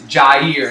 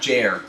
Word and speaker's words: Jair: Make sure you shout out Clash with Jair, and it's Jair, not Jair. I don't know if you were going to pronounce it either way, but he says everyone pronounces it the wrong way.